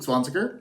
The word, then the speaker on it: Zwanziger: My name is Luke Zwanziger, and I am a director, editor, screenwriter, I should just say filmmaker, and improviser, living in Portland, Oregon.